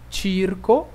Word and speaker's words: circo: C-E-C-I seria o som de che, chi, ok? Então, essas palavras são pronunciadas da seguinte forma. Cenare, cercare, circo, cucina.